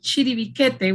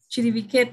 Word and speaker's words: Chiribiquete: So this one place called Chiribiquete, which if you open the chat, you will see how we pronounce it. Actually, we write it with a Q, we pronounce it with a K. Chiribiquete is an indigenous name